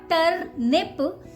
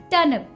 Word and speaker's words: turnip: okay it's turnip turnip don't make proper nip sound there it's not ter nip it's turnip turnip okay Midnight silent there and nip is not completely nip okay this is a very slight difference it's nib nip turnip okay so